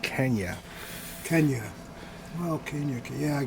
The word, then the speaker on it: Kenya: What the hell's Kenya? oh, it's way down in southern Africa, I believe. It's pronounced Kenya.